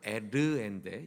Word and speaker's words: 에르: 첫째 이름은 엘이에요. 원래 발음은 에르인데 이 에르라는 말이 깨어있다, 파수꾼이란 뜻이에요.